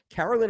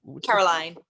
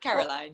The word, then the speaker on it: Caroline: And am I saying Carolyn or Caroline? Caroline. Caroline. You can say what you want, but Caroline.